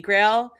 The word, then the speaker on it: GrAHL: over on Twitter at the Holy Grail you know how it's spelled g-r-a-h-l you can also check